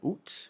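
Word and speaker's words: août: So it's oo. Um, you can also pronounce it, you'll also hear the pronunciation oot with the final toot. Um, but it's more of a formal thing. People if they really want to be very formal or very fancy.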